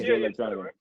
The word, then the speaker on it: Jay Electronica: I don't really know Jay Electronica. Did I say it right? Yeah, Yeah. Jay Electronica.